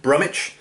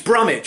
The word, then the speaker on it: Brumwich: I think it's Brummich. It's B-R-U-M-W-I-C-H, so it could be Brumwich. But I was thinking, place names like Bromwich, West Bromwich, Norwich, you don't pronounce the W. So it's probably Brummich.